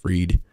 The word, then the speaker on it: Fried: gets me bankman but it's spelled fried but it's pronounced freed his parents called down